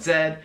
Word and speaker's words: zed: And next is Z, they call it Zed.